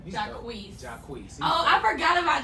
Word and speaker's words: Jacquees: And he got Jaquay, was that how you say his name? Jacquees.